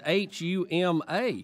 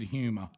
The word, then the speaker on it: Huma: H-U-M-A. Huma Weiner. Okay, good. I said Huma, and I pray that's correct. Huma. Right, because you would say Weiner. Because P-U-M-A is Puma.